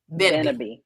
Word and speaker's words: Beneby: and make sure I'm pronouncing this right, Beneby? Is that that's how I pronounce it? Beneby.